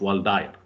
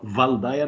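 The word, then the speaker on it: Waldeyer: الدايره الكامله الديب بتبقى رينج اوف والداير، اسمها رينج اوف والداير او رينج اوف فالداير، الاثنين تسميه صح لان الراجل الماني فينطق فالداير بالالماني وينطق والداير بالانجلش.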